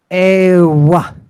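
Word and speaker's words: euoi: It's the W sound. Ewa, ewa.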